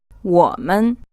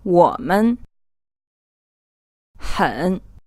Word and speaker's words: 我们: You will hear from time to time that some people pronounce this as a 3rd tone, then a 2nd tone. However, strictly speaking, if you look this word up, it should be a 3rd tone, and the 2nd tone is neutral or unstressed.